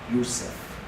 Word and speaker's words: Yusuf: One of them, his name is Joseph, Yusuf, the way we pronounce it.